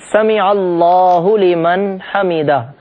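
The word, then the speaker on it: سَمِعَ اللهُ لِمَنْ حَمِدَه: ساتھ ہم ادا کریں۔ بہت سارے لوگ اس کا تلفظ بھی صحیح نہیں جانتے، غلط سلط طریقے سے ادا کرتے ہیں۔ صحیح تلفظ ہے سمیع اللہ لمن حمیدہ۔ ہم یہ جملہ صحیح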